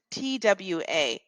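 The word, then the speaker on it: trois: practice it on is TWA TW it's almost like we're saying the word t wa so tww TW TW wa what we're really saying is TWA and then we roll the R so TAA practice that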